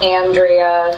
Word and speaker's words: Andrea: It's Andrea. Standard Midwest pronunciation with the flat A.